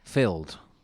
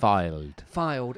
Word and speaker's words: Fylde: Filled. I don't know. I don't think you say it like that. Fylde.